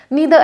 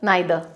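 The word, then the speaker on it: neither: नीदर advice, मुझे किसी ने एडवाइस दी, मुझे दोनों में से कोई भी पसंद नहीं आई। तो each, ईदर एंड नीदर, आइदर, नाइदर, pronunciation दोनों ठीक है, राइट।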